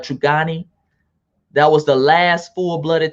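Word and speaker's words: Truganini: last tre uh tasmanian true connie i believe her name is it's spelled t-r-u-g-a-n-n-i i believe i don't know if i'm pronouncing the right trigani that was the last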